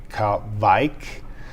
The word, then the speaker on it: Kveik: Well, this is the big debate. Some people from Norway say Kveik.